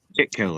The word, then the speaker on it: Kitco: for some reason oh kid Kitco that's how you say it yeah that's kid Co